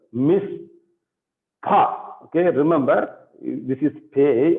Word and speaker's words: mishpacha: It is not fa. It is pa. Okay, mish pa. This is hey, hate, and this is hey. So you have to use your guttural to pronounce it. Mishpacha.